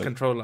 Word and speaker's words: comptroller: a weird uh noun is it actually pronounced com is the p silent it's just a control room controller controller i have no idea controller i just played it on google whatever thing um so